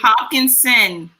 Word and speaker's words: Hopkinson: Hopkinson.